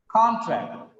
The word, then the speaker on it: contract: Just because of the stress is on track, the first syllable becomes weak in the second example. In the if it is verb, con becomes contract, because the stress is on second syllable.